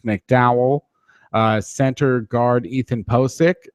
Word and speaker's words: Pocic: uh Center guard Ethan posk and that's a pronunciation that I've gotten off of I think his draft profile or off of Twitter a reliable Twitter Source POI um they've taken